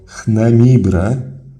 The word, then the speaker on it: Chnemibre: Ze względów na cześć i honory oddawane bóstwu Re, jego hieroglif zapisywano na początku, choćby był on wymawiany na samym końcu. I tak imię tronowe Amazisa czytamy jako Chnemibre z Re na końcu.